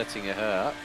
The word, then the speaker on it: Döttinger Höhe: Don't forget about the umlauts. Yes, those 2 dots are not just for decoration. It's actually not an O, but an Ö.